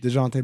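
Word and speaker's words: Dejounte: for the people the uninitiated how do we pronounce murray's first name dejante murray okay still sounds like a mustard well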